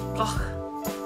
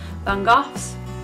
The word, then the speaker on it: van Gogh: his name right, but I think you say it, Vincent van Gogh, even, Gogh. I'm pretty sure that's how you say it, or Van Gogh, as most people say.